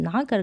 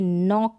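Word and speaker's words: knock: फिर यहाँ पर देखिए नॉक है, क्या है, नॉक, तो के को हम प्रोनाउंस नहीं कर रहे हैं, के साइलेंट है, रूल यही बोलता है।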